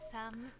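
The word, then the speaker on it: さん: Das ist eine ganz schöne Überbetonung von dem N, von dem, also dem zweiten Silbe, dem, nach dem Sa, den N. San. Das klingt eher wie Sam, also als würde sie es ein bisschen wie ein M aussprechen statt einem N.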